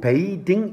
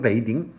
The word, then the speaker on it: bathing: 근데 이건 읽을 때 bathing이라고 안 읽고 bathing 이렇게 읽어야 되거든요. bathing 발음은 그렇게 해요.